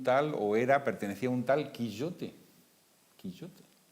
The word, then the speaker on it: Quijote: ¿Y cómo se pronuncia Quijote? Pues nosotros lo pronunciamos Quijote con J, pero ¿cómo se pronuncia Quijote? Quillote sería la J. Quillote.